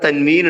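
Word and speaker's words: تنوين: രണ്ട് ദമ ഇടുമ്പോഴാണ് അവിടെ തൻവീൻ ഉണ്ട് എന്ന് അറിയിക്കുക അപ്പോൾ ഉച്ചാരണത്തിൽ അതിന എന്ത് ചെയ്യണം ഒരു നൂനിനെ ചേർത്തു കൊടുത്തുകൊണ്ടാണ് ഉച്ചരിക്കേണ്ടത് അതേപോലെതന്നെ അലീമിൻ റസൂലൻ റസൂലൻ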